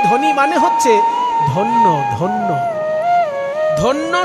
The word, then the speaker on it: ধন্য: ধন্য শব্দটাকে হিন্দির মতন একটু ভেঙ্গে উচ্চারণ করুন উচ্চারণ হবে ধ্যান জ ফলাটা ই উচ্চারণ হয় না ধন্য বাঙালি বলে হিন্দিতে